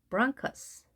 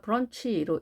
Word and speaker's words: bronchus: bronchus, bronchus. 복수 형태로는 bronchi라고 합니다. 여기도 마찬가지로 크로 발음이 됐습니다. 그러니까 브런치로 읽지 않고 bronchus, 때로는 bronchus 이렇게는 안 하고 브런치라고 하는 단어를 가끔 하는데요. bronchus입니다.